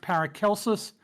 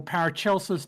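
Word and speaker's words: Paracelsus: And technically technically it technically it could be pronounced paracelus or parachelus depending on which version of Latin you're using.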